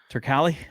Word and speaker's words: Turkalj: Turkali. All right. Anton Turkali. All right. Anton Turkali. Now there's a J at the end, but you were going to tell me that that's pronounced as a Y.